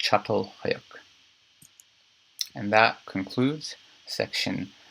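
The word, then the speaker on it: Çatalhöyük: non-moving Society of Agriculture again it's pronounced shuttle click and that concludes section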